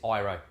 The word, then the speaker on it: Airoh: of a weird one it spelt arrow on Australian arrow but in Italy they pronounced this arrow right so wrapping up